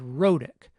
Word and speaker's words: rhotic: Here‘s the word rhotic, which we‘ve said many times in this course. What‘s interesting about this word is that the medial consonant sound is a tap.